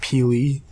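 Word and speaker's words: P'Li: Her name was, and I don't know how to pronounce this, her name was Pili. It's P''Li. It's like Pili.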